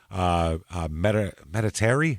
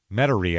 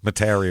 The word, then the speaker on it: Metairie: He asked the driver to take him to Meditaire. How did we find out that was said? Spell it? Metairie. Yep. Metairie, I think is how someone said to say it.